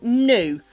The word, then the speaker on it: new: So new. Not as in I knew. No. No. New. N O new like moo.